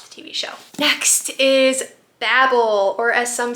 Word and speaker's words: Babel: Next is Babel, or as some say, Babel, by R.F.